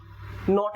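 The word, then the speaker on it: knot: I seat नॉट अब ये के साइलेंट नॉट बोला जाएगा कनोट नहीं बोलेगा टाई द नॉट बोलते हैं।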